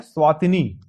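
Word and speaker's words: Eswatini: Swaziland ने अपना नाम हाल ही में बदल दिया है, इन्होंने अपना नाम बदल दिया है, अब इनका नाम है स्वातिनी। ई साइलेंट है, किंगडम ऑफ स्वातिनी।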